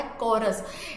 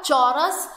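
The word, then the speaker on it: chorus: उसको बोला जाता है कोरस। इट्स नॉट अ चौरस, च सी एच को च नहीं कहोगे, यहाँ पर प्रोनाउंसिएशन है कॉरस।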